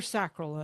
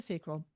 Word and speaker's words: sacral: which means they're responding with that sacral or sacral, whatever part of the world you're in, you can pronounce it either way. Let's say you're a builder type and you're responding with a sacral.